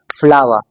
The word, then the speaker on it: flower: British action में तो remember आपने इस आर को साइलेंट रखना है।